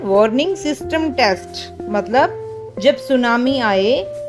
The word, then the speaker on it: tsunami: तो ये टी लिखा है लेकिन बोलने में टी साइलेंट होता है, ये है सुनामी।